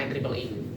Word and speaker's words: IEEE: IE-nya 3, itu cara bacanya IEEE gitu.